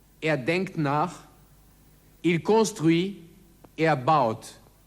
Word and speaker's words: construit: Il réfléchit, denkt nach, il construit, baut. Das T am Wortende ist stumm.